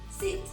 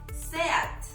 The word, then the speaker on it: SEAT: Yes, I know the word is perfect to say "seat" but no, it is "SEAT". And don't worry, I don't think, I mean, it is not a word in Spanish.